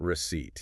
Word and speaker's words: receipt: It says prefer bill, not receipt. Is that a phonetic thing again? It's entirely phonetic. Look at the word receipt. Receipt t. Okay. It has a silent p.